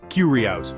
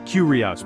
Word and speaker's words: curious: The pronunciation is curious. 3 syllables with the stress on the first one. Listen, curious, perfect.